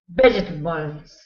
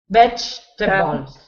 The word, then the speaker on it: vegetables: Vegetables. Vegetables. Vegetables. Good. So with this one, there's an E in the middle of the word, but you don't pronounce it. So it should be veg. Vegetables.